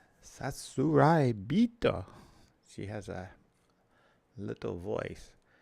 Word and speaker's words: Sasuraibito: That was the pronunciation key. Sasuraibito. Sasuraibito. The voice on Google Translate says it much slower than that. Sasuraibito.